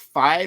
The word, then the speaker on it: FIDE: Is it pronounced FIDE or FIDE or FIDE? FIDE.